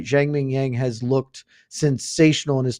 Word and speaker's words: Zhang Mingyang: That is the correct pronunciation. Zhang Mingyang.